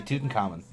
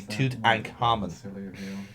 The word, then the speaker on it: Tutankhamun: It's also because we're Irish as well. We stress the wrong vowels. We would say Tutankhamun, you know, when they say Tutankhamun, like they say it phonetically.